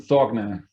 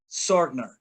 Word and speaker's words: Sorgner: I'm your host, Luis Acevedo, and with me today I have a special guest, Stefan Sorgner. Is that how you pronounce the last name? Yes, Stefan Sorgner. Sorgner.